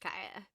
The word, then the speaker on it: Kia: And I've been told by It's Jenny, spelled Kia, but it's pronounced Kaya.